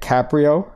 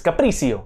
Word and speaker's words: Capricio: I always get Caprio like Leo. It's Capricio.